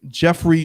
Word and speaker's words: Geoffrey: Okay, Chaucer is Geoffrey, but spelled like, you know, like Joffrey, Geoffre, while his last name is spelled Chaucer.